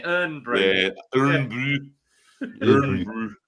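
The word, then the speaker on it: Irn-Bru: I love the fact how they spell it as well, because they can't spell it the original way because it'll be done for IRN, isn't it? Earn Brew.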